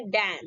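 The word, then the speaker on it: damn: है और इसी लिए इसको हम क्या बोलेंगे दान ठीक नेक्स्ट चलते हैं साइलेंट पर अगर और और एस से पहले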